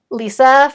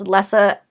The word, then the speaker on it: Lessa: would have to be lisa from anne mccaffrey's dragon rider series i pronounced it lisa when i listened to the audiobook it was pronounced lessa i'm just going to